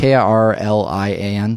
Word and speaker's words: Kirlian: I don't actually know how to pronounce that. Kirlian it's camera. It's Kirlian.